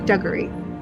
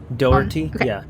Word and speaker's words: Doherty: fran frank duggary sorry duggarty with the dougherty duh honestly i have trouble pronouncing this one as last name as well don't worry darty because it's like dough for the first part doherty yeah his name is